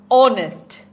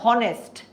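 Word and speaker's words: honest: আমরা কেন এন বসালাম কারণ আমি যখন পুরো শব্দটা একসাথে পড়ছি তখন এইচ আর উচ্চারণ হচ্ছে না উচ্চারণ হচ্ছে ও আমি কিন্তু বলছি না যে হনেস্ট বলছি হনেস্ট হনেস্ট বলছি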